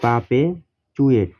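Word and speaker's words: perpetuate: সেটা ভার্ব হয় পারপেচুয়েট PER পার ভাওয়েলের পরে আরের উচ্চারণ হয় না যে ই আছে এর উপরে আরের উচ্চারণটা হয় না এই জন্য হচ্ছে পা আরের উচ্চারণ হবে না PE পাপে চুয়েট TUATE এতে চুয়েট হয়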